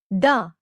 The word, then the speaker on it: ड: ड it sounds like the ड एज इन the word dot.